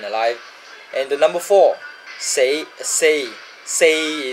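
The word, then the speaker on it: 四: and the number four say say say is the proper pronunciation of four in cantonese but you tweak it a bit with the intonation you get say say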